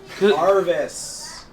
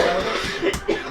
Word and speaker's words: Jarvis: Jarvis. The Y is silent, Jarvis.